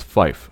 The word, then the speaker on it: fife: Pronounced phonetically, 3 is tree, as in the thing with fucking leaves on it. 5 is fife, F-I-F-E. And 9 is niner.